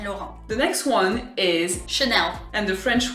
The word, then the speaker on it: Chanel: The next one is Chanel. And the French way of saying it would be Chanel, with a very open A, Chanel.